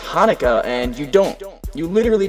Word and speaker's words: Hanukkah: about and rarely about konica uh first of all it's pronounced Hanukkah and you don't you